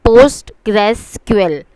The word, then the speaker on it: PostgreSQL: This is pronounced as PostgreSQL.